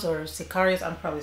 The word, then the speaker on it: sicario: I feel like it would be Cesario. Of course, no. Of course, I'm wrong. Sicario. Okay, Sicario.